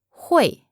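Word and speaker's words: 会: for can meaning to know how to is hoy hoy hoy hoy say I can so how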